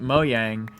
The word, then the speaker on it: Mojang: more iron um but I should be saying Mojang but like it's one of those things where like the accents like the Swedish accent the swedes pronounce it moang and it's a Swedish